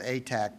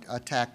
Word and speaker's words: ATAC: I would prefer to put the accent on the first syllable and call it ATAC, but ATTAC is just as well.